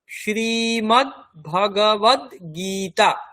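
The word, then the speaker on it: শ্রীমদ্ভগবদ্গীতা: তারপরে এটা হচ্ছে গ, শ্রীমদ ভগ, তারপরে ওয়া, তারপরে আবার দয় গয় দীর্ঘইকার গীতা, শ্রীমদ ভগবদ গীতা, শ্রীমদ ভগবদ গীতা, শ্রীমদ ভগবদ গীতা। তাহলে শ্রীমদ ভগবদ গীতা।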